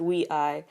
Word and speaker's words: WEi: pronounced ruei as their their name is Wei pronounced Wei and ruei is their fandom name Ru meaning